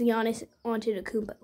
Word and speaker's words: Giannis Antetokounmpo: It's Giannis Antetokounmpo.